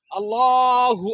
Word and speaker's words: আল্লাহ: আমরা এখানে আল্লাহ লামের উপর একটা খারা জবর আছে। লামটা বারিক হবে না। পুর হবে। পুর হলে কি হবে? লাম অক্ষরটা মোটা হবে।